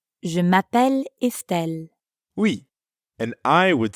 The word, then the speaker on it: Je m'appelle: Je m'appelle. This is how the French say my name is. Notice how it blends together. Je m'appelle. Je m'appelle.